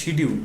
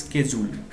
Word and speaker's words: schedule: আমরা যে বলি শিডিউল, উচ্চারণটা প্রনাউন্সিয়েশনটা অ্যাকচুয়ালি স্কেজুল, বাট যেহেতু সবাই এটা শুনলে ধরতে পারে, সো এই ক্ষেত্রে শিডিউল বললে আসলে বাংলাদেশের খুব একটা কিছু যায় আসে না, তাই না?